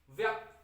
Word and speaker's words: व्यक्त: लेकिन अगर मैं इसको ये बोल दूं, यहां पर एक है व्यक्त, व्यक्त, अब क के बाद अ की आवाज नहीं आ रही, व्यक्त, यही इसका सही उच्चारण है।